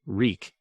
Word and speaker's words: Reek: name his name was reek he had to remember that reek reek it rhymes with leak when that other man